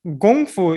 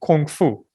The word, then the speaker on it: Gongfu: So Gongfu is what people typically confuse with the pronunciation Kung Fu.